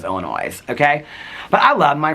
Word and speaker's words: Illinois: and they are correct they're pronouncing Illinois with an S on the end of Illinois like I don't think they're going to change at this point.